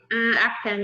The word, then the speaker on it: Akpan: Did I pronounce it right? Akpan, yeah.